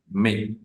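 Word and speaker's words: mais: El acompañamiento que tengan en ese caso la a y la i juntas Perdón sonarían e como una e del español e y la s final la mayoría de consonantes finales no suenan en francés entonces diríamos me me eh casos como estos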